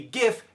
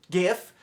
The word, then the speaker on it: GIF: should be GIF because it's graphics interchange format.